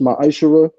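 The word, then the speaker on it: מַעֲשֵׂר: Means tenth in Hebrew and is pronounced ma'ashara.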